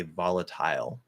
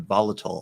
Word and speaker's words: volatile: uh but the pronunciation volatile also works um and the primary stress is on vol right volatile volatile so when that happens